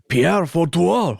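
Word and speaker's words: Père Fouettard: You're saying it wrong. It's Pierre Fautoir. Ho, ho, ho. That's how you say it.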